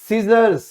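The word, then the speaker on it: scissors: यहां इसको दोस्तों हम बोलते हैं सीजर्स। सीजर्स, ठीक है। तो इसको हम सीजर्स क्यों बोलेंगे? क्योंकि ये जो सी है ये हमारा साइलेंट रहता है।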